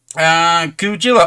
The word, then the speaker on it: Kujila: Kujila. Oh, alright, so it's pronounced as a J. Alright. I thought it might be Spanish and pronounced as a H, because obviously Jose you spelled Jose.